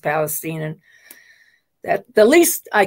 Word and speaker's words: Palestine: of the time I I will slip into calling it Palestine myself but that's how they say it is East Palestine and that the least